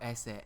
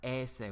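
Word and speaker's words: ēsse: eat, edo esse edi, note that that's esse with a long e. You have to watch out for that macron on that particular verb, because notice esse with a long e is to eat, esse with a short e is to be.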